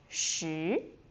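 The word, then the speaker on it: 十: Going up, Shi Shi It's 10.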